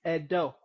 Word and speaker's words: Edo: I hope I'm pronouncing it right. No, you're not Edo. pronouncing it right. It's Edo. Oh, Edo. Edo. Say Edo. Edo. Correct. Now you're talking.